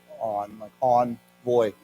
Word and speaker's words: envoy: So let's say that it's a good word, and it's pronounced different. We say on, like envoy. Yeah, a French word.